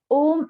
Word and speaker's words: Om: The Om is comprises of the three syllables A, U, Ma. Three syllable sound. A, U, Ma. So if I'll write it down, it's A sound, U sound, and Ma sound.